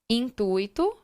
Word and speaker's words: intuito: Letra C, gratuito, intuito, mascote, compasso. Preste bem atenção na pronúncia dessas palavras. Não é gratuito e não é intuito. Se eu falo dessa maneira, eu estou modificando o processo de separação.